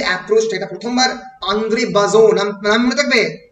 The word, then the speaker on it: Bazin: এই যে অ্যাপ্রোচটা, এটা প্রথমবার আন্দ্রে বাজো, নাম মনে থাকবে, ANDREBAZIN, বাজিন উচ্চারণে বাজো, আন্দ্রে বাজো এবং আলেকজান্ডার অস্ট্রুক এবং আন্দ্রে বাজো, তারা এই অটিউর থিওরি, AUTEUR দেখে নেবে, আমার স্টাডি মেটেরিয়ালে আছে।